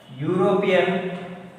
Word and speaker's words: European: one one rupee note see european even though this is e but here you are not pronouncing as e you are pronouncing as you you are pronouncing as